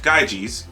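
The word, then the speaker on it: Gyges: there was a shepherd named gaijis pronounced gaijis one day while he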